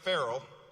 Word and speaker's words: Farrell: Now, Deputy Mayor Farrell, which rhymes with Mayor Harrell, by the way, is hitting the ground running on our transportation, parks, and climate portfolio.